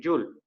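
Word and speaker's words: joule: una unidad llamada llull se escribe jaule no pero se lee yoon de acuerdo con jota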